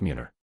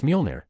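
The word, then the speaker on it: Mjölnir: So, trust me, you will be able to lift Muner. It's Mjolnir, Darcy whispered.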